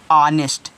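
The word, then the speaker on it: honest: कि नेस्ट हो जाएगा नहीं बच्चों गलत उच्चारण हो गया नेस्ट नहीं होगा क्यों क्योंकि ओ से पहले एच आया है तो ओ से पहले आया एच क्या रहता है हमेशा साइलेंट रहता है तो आप यहां पे पढ़ोगे इसको ऑनेस्ट क्या पढ़ोगे ऑनेस्ट पढ़ोगे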